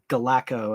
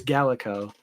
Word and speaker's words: Gallico: I've had one of my friends think it was Galacco, and I'm like, no, it's Gallico.